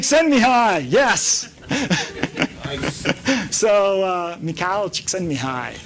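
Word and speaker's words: Csikszentmihalyi: me hi yes so McHale send me hi which doesn't look like how it's pronounced at all I came up with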